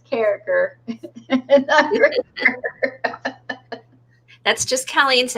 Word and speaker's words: Carriker: I say cranker. That's the proper way to spell it, and it's Carriker.